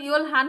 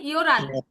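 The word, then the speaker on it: 열한: এই যে ইয়োল হান, এখানে কিন্তু উচ্চারণ ইয়োল হান হবে না, উচ্চারণ কি হবে? ইয়োরান।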